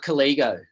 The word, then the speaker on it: Collego: of the company please it's called collego as in colleagues okay fantastic if you'd